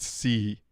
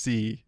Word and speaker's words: SEI: know SEI was pronounced C. I I It's kind of cool. I learned that not that long ago, actually. I'm embarrassed to say, but SEI is pronounced C.